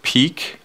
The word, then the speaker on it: Piik: guys welcome to the hack existence demo of peak um this app is actually spelled p i